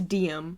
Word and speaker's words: Diem: And her name is Diem. D-I-E-M. She's entering the dark world of descended royalty. Who are the descended? Are they vampires by chance? Okay, Luther's the heir of the kingdom. Diem's mother disappeared.